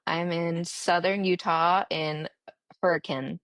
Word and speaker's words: Hurricane: I'm in southern Utah in hurricane. It's like written hurricane, but it's pronounced hurricane, I learned.